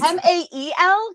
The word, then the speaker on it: Mael: Like as Boy Casey did, we're just male. It's fine. MAEL guys, not MALE. Just Yeah, Right. MAEL as in Maelstrom.